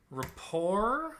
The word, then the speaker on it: rapport: Rapport, bouquet, parfait, and ragout have a silent T in them.